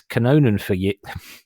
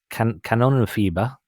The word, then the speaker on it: Kanonenfieber: It's Kanonenfieber. It's a German band. Kanonenfieber. Kanonenfieber.